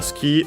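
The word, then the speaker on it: 好き: Uh, ski on its own is accented on the last on the key.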